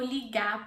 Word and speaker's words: ligar: Notice that ligar has an R at the end and I don't pronounce the R. It's optional, okay, at the end of words if you want to pronounce it or not.